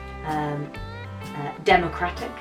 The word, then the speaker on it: democratic: But for example, democratic, you put the stress in a different place. Democratic. Whereas in English, although the noun democracy has this same stress pattern, when we use democratic, the adjective, it changes.